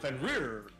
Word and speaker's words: Fenrir: That's how you pronounce it. Fenrir.